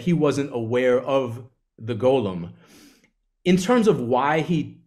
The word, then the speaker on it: Golem: of the I was actually calling it The Gollum and then everyone kept saying to me no that's from Lord of the Rings like it's pronounced Golem I mean like almost everything else about Judaism